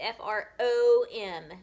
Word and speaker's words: from: this is from f-r-o-m if you sound out from it does not look the way that it sounds it sounds like it should be fr sounds like there should be a u there but there's an o so you're going to have to remember in your brain it's f r o m not u m all right the next